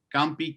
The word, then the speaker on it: Camp: uh and i'm very i'm blessed by the way that you pronounce my name in english because all of my brazilian friends always say campi so uh and and